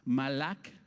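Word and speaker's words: מלאך: En el Antiguo Testamento el término hebreo malak, si lo quieres apuntar con K y acento en la última A, malak, que quiere decir ángel, propiamente mensajero.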